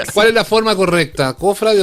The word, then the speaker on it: cofrade: ¿Cfrade o cofrade? Sí, lo vi de las dos maneras en los últimos días, ¿eh? Y la palabra es cofrade, sin tilde, con pronunciación grave o llana, es un sustantivo que